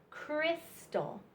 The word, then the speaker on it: crystal: Y in this word but this y makes a short I sound i i i crystal crystal so we have Jim symbol Lyn bicycle Egypt and mystery so this y says I I I in Crystal and then for our